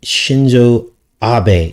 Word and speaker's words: Shinzo Abe: and he's upset about this the assassination of shinzo abe is how you say his name former prime